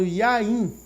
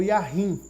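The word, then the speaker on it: יין: É importante você compreender, primeiramente, que existe uma palavra chamada Yain. Essa não é a pronúncia correta no hebraico, mas é a pronúncia correta do português. Yain ou Yahim.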